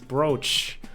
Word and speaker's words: brooch: were looking for right it's not BR it's brooch this is the brooch you were looking for isn't it it looks like it should be pronounced BR English is a dumb